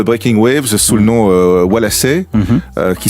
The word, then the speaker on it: Wallasey: Waves, sous le nom Walassé, qui s'écrit avec EY, qui a une astuce de prononciation qui est plutôt liée à l'accent local de Liverpool. C'est ça, ouais. C'est un mélange, c'est Walassé, comme ça, donc on sait jamais